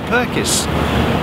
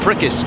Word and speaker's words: Pirkis: had been experiencing this no one can pronounce my name correctly it's perkins it's perkis is prickes it's perkins so at the same